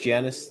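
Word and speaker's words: Janus: it's beautiful why not is that Janice or Janice it's I'm pretty sure it's pronounced Janice the two-faced God yeah yeah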